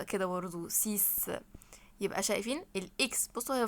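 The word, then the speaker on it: six: تعالوا نرجي لرقم 6 اسمه سيس سيس ما اسموش سكس سس ده في الانجليزي حضرتك اسمها ايه بالفرنش سيس سيس الاكس هنا هتنطق اس يبقى اسمها ايه سيس طب رقم سبعه خلي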